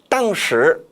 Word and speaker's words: 当时: 즉, 当时, 당시에 이거는 那时, 그때라는 뜻과 같죠. 따라서 当时가 아니라 当时 사성어로 발음해야 합니다.